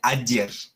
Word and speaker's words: ager: Después, la G se pronuncia como una Y, como una Y, ¿sí? Entonces, aquí en el ejemplo tenemos Ager, pero no se pronuncia Ager, se pronuncia Ayer, ¿sí?